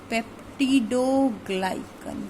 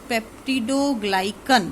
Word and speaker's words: peptidoglycan: देखो नया वर्ड है वापस से, पेप्टिडोग्लाइकन. देखो वही नए वर्ड का रूल होता है, नया वर्ड आ जाए तो 5 बार बोलते हैं तो लर्न हो जाता है. सो द new word is पेप्टिडोग्लाइकन.